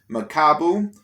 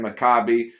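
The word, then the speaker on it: Makabu: ways to pronounce it it's either macabu or overall uh i forgot the other way that maybe i pronounce it but like there's no u in there there's no i in there it's like you know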